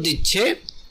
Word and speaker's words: The: এখানে সে প্রেসিডেন্টকে খুব জোর দিয়ে বোঝাচ্ছে, যার কারণে THE এর উচ্চারণ দা না হয়ে দি হচ্ছে।